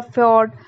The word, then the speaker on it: fjord: Moving on to next topic is fjord. Fjord, it is called with different names. Sometimes called fjord. It's not J silent. It's called fjord or fjord or fjord. This J is silent here.